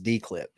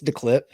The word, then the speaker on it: DeClip: here's the thing guys we've been mispronouncing it for about three or four months as dclip it's not that it's declip and this tool super